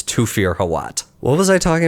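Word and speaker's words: Thufir: that they call him thuir in the movie um no that sounds wrong it's toir I know it's th but sometimes th just makes the T sound that's a hill I'm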